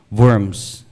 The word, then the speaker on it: Worms: uh V of worms so German is pronounced as worms so famous Gathering pop